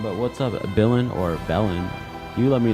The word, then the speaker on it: Bill: Billen. Okay, cool. Bill is the right pronunciation. All right, cool. Glad that I could uh pronounce it properly and correctly.